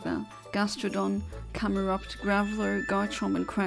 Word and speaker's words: Gastrodon: good um a good one torta gastodon G gastodon why did I say it like that gastrodon camerupt gral GOM and crack h i